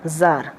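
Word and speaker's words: tsar: সেট দ্য জার, জার বললেন, এখানে টি এর উচ্চারণ কিন্তু সবসময় সাইলেন্ট, এটা মাথায় রাখবে।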